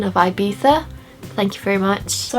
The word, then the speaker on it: Ibiza: Notice that perfect pronunciation of Ibiza.